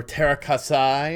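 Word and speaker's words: Teräs Käsi: Center of Being in Terraskasi. Or Terrakasai, or whatever. If you're a Star Wars snob, you might pronounce it like that.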